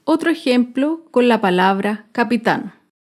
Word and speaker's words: capitán: Acá vemos otro ejemplo con la palabra capitán. Capitán es una palabra aguda. Se acentúa en la última sílaba y lleva tilde porque termina en la consonante N.